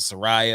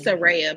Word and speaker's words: Saraya: It's Saraya, by the way. Saraya, sorry. I'm trying to say it correctly because I keep saying Saraya.